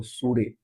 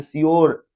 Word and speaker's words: sure: फ्यूचर को फुटूरे पढ़ देते थे, नेचर को नाटूरे, प्योर को पूरे, श्योर को सूरे। तो बाद में पता चला कि इसका स्पेलिंग CSURE, तो श्योर, PURE प्योर, NATURE नेचर, FUTURE फ्यूचर, फुटूरे नहीं।